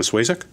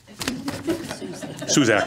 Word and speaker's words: Suzak: Swazek? Suzak, I'm sorry. Well, I've been living here 70 years. I know. I've always mispronounced your last name.